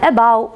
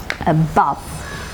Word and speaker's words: above: And above words with weak prefixes, stress will be marked on the root word. Above. Above. Okay, stress is marked on the second syllable or on the root word.